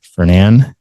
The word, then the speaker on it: Fernan: Fernand. Remember, that's how we pronounce it. Fernand Rod and Gun Club.